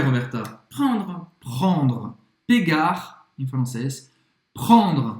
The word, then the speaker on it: prendre: Prend, prendre, prendre. Esse E no final não vai ser pronunciado. Você conclui a pronúncia no R.